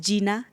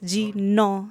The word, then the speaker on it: Jina: think it does well it's not pronounced Gina Alchemy it's g no Alchemy always know your why